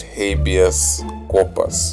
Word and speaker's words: habeas corpus: that I mean you imagine so the correct pronunciation is habeas corpus naughty helpers compas ABS corpus so yeah please